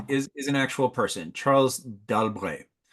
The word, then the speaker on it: d'Albret: And the modern version of this historical figure is d'Albret, a two-syllable word.